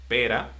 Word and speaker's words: pera: So, if you don't pronounce well the R in this word, you will confuse from a fruit to a bad word.